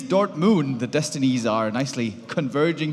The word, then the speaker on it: Dortmund: a stop to that you kind of mispronounced it it's the Dort Moon it is Dort Moon the Destinies are nicely